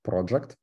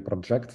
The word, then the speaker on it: project: Он дает мне метод project, или project, наверное, правильное ударение делать в данном случае, который, опять же, как линзы из функционального программирования.